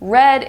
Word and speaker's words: read: I like to read I have read that book read red is the past tense version of read they are spelled the same two different meanings because read is present tense and red is Past Tense one thing that we